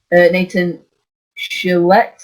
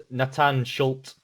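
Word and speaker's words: Natan Schulte: Brazilian, the PFL, Nathan Chillet, I think. Oh, Chillet? no, that's it's pronounced Nathan Schultz.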